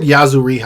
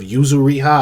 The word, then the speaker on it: Yuzuriha: of the anime and I said yazu riha I do that all the time I don't know why I say yazu riha instead of yuzuriha I think that's how you say it I don't know but